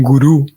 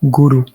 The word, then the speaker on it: guru: se utiliza más como con el cambio en el acento un gurú como con un acento en la última vocal guru Aunque pare ser que de la pronunciación sánscrita es más bien un con una acentuación en la primera vocal guru en fin en fin